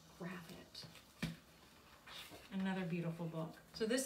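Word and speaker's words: Gravett: i keep telling myself it rhymes with rabbit because i think she's an english illustrator and i think in our american heads we'd probably say grave it but it's graphite another beautiful book so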